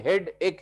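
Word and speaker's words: headache: हैं बड़ा हेडक है, हेडक है। हेडक नहीं है, हेड एक है। हेड एक है जिसको हेडक बोलते हैं हम लोग, गलत तरीके से प्रोनाउंस करते हैं उसको, ठीक है।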